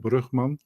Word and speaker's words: Brugman: It starts with Keith Brugman, and that's how you officially pronounce it, Brugman, because it's a Dutch last name.